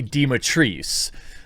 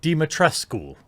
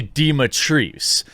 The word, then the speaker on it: Dimitrescu: absolute absolute destruction now for fun it's actually pronounced lady dematrice a lot of people are out there uh